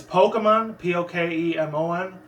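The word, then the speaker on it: Pokémon: And the way I say it, there's 2 different pronunciations how I say Pokemon. It's Pokemon, P-O-K-E-M-O-N.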